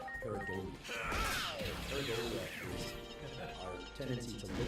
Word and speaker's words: pareidolia: I don't want to mispronounce because then it sounds like something else. But the correct pronunciation is pareidolia.